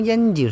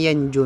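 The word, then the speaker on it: يَنْجُ: mudah kemudian waillam yanji itu bukan yanji Ustaz waillam yanju minhu Naja yanju gitu karena kemasukan Amil jazm maka dibaca lam yanjuh dibuang huruf atnya badahu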